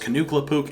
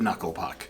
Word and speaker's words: Knuckle Puck: upset about jared lange making a joke about their name being pronounced canooc instead of knuckle puck that being said i